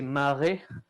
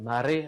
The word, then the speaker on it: Mare: est écrit en romaji, vous voyez qu'en fait, le nom, c'est Mare, avec un A long. Donc, c'est une prononciation, c'est même Mare, avec un R qui est roulé.